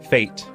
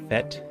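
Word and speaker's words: fête: The answer that Crazy Sherlock had in mind was fate, or fete, depending on how you pronounce it, but it's F-E-T-E.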